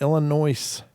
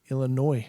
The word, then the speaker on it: Illinois: it's like well if the S is silent why don't you just knock it off Illinois I don't know if